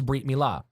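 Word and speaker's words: brit milah: are certainties that the the Eastern European or the European Ashkenazi Jews pronounce certainties as s's mm-hmm so the technical Hebrew is breat Mila okay I'm the company no the Covenant but the Ostrom changes breat to bris okay so I just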